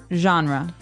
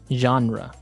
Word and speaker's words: genre: pronounced differently we say genre genre or genre this kind of sounds French is it French I think it comes from French uh it's a g word so genre it's a soft soft sound mm and what's a